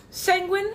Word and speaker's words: Sanguine: Sanguine, it rhymes with penguin, hence the penguins of my community.